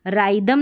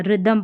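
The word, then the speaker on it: rhythm: और यहां पर रिदमम करके इसको राइदम नहीं पढ़ना है। रिदमम पढ़ना है।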